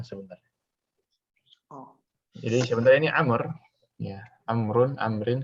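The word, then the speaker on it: عمرو: oh ini sebenernya Amor amrun Amrin Kenapa dikasih Wow untuk membedakan antara dia dan Omar sebenernya amrun Amrin tapi wow Karena untuk membedakan saja dibacanya Amr tadi biar enggak bisa kasrah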